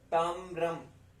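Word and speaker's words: ताम्रम्: इसको आप प्रोनाउंस करेंगे म्र, म्र, म्र, आधा म और आधा र, म्र। ताम्रम, ताम्रम, ताम्रम।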